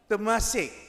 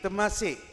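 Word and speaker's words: Temasek: ran away to firstly to a place called Tamas. T E M A S I K. Tamas rings the bell. It is now no more known as Tamas. Anyone knows what is the current name of Tamasi?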